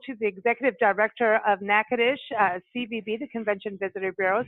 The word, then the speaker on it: Natchitoches: our leaned gold to the executive director of NACA dish CBB the convention Visitors Bureau so you can